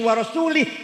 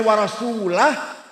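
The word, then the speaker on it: ورسوله: Innallaha bari'um minal musyrikin wa rasulih. Salah. Allah tidak melindungi orang musyrik dan tidak melindungi Rasulullah. Salah. Tapi kalau bacanya wa rasulah, Allah tidak melindungi orang musyrik dan Rasulullah pun tidak melindungi orang musyrik.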